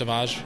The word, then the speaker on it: Savage: I'm going to say Savage because that's how it's spelled, but it's pronounced Savage.